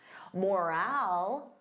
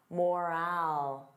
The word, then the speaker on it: morale: Morale. Repeat after me. Morale. So notice that long. Morale.